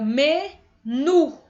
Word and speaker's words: menu: Como eu sei que as agudas são a última, então, nu aqui, ó, menu. Nu é bem mais forte, mas, né, gente, a